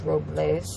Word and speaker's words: Robles: call it us approvals well the correct pronunciation is Robles but they call it